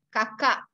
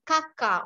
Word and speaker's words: kakak: Okay, sister, kakak. Okay, kakak. Some of students, they always say kakak only. It's not kakak. Kakak. You have to pronounce K and the end of the word kakak.